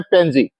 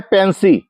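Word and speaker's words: pansy: हूं उसका नाम है पेंजी। नहीं, इसका नाम है पेंसी। पेंसी, जी हाँ, पेंजी पेंजी बोल दिया जाता है, लेकिन इसका सही उच्चारण है पेंसी।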